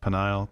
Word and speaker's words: Peniel: the place uh peniel i've heard it pronounced penile peniel saying for i have